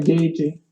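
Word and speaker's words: Gaethje: That fought in the UFC against Tony Ferguson, and it's spelled like Gaetfje. It's like really crazy, and pronounced like Gagey, but there's like Gau, and it's spelled like.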